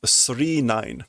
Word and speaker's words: 999: instead of pronouncing 999 the pronunciation in the title is 39 as in three nines so there we go